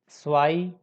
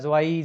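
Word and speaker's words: zwei: अब कुछ लोग जो ऑनलाइन प्लेटफॉर्म से सीखते हैं उनका प्रोनाउंसिएशन अच्छा नहीं होता, या प्रोनाउंसिएशन पार्ट पे वो लोग ध्यान नहीं दे पाते, तो उनका प्रोनाउंसिएशन पे कुछ इस तरह से होता है, ज्वाई, जू, जैन, ज्वल्फ, बट इट्स रॉन्ग।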